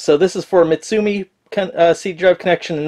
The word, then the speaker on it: Mitsumi: m m i can't can never pronounce that one mitsumi believe it's pronounced so this is for mitsumi uh seat Drive connection